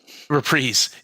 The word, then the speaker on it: Reprise: How do you pronounce it? Reprise. Reprise, okay.